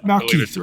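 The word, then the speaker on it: Malekith: How do you pronounce his name again? It's Malakith, right?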